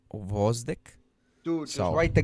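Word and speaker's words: Gvozdyk: which made it very difficult to pronounce. In Oh, yeah, you're right. Gvozdik. Yeah, I was like, what? I said it good. No, you fucking butchered. Guy it. you- I said you, grove stick.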